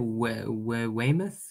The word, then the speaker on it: Weymouth: yes from the wild march they landed at weymouth is that how you say it yeah yeah